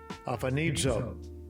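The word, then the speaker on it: ἀφανίζω: Let's pronounce it. Strong's G853. Aphanizo.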